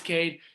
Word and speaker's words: KVDE: easy letters k b d e surge it's pronounced kade and that's it's that's all they had to